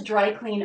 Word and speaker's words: dry clean: It's a compound word written with a space, and a compound word has stress on the first word, like eyeball or bedroom. Dry clean. So rather than clean, it's clean, unstressed. Dry clean.